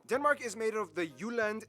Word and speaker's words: Jutland: Denmark is made of the Jutland, not Jutland, peninsula that connects to Germany in the south, as well as 1,419 islands. Of those, only Jutland.